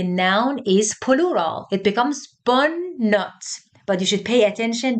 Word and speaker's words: notes: So it has an S at the end, but pay attention that we do not pronounce this S.